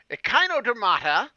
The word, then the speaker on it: echinodermata: deuterostome phylum besides Chordata echinodermata besides rhyming with Hakuna Matata which means it will